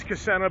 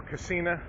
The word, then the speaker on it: Kissena: to six this is kissena boulevard for cocina I've heard of pronounced both ways major bust are up